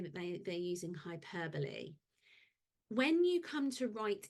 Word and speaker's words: hyperbole: sentence longer idea okay hyperbole really annoying that it's spelled hyperb but yes hyperbole so it's a way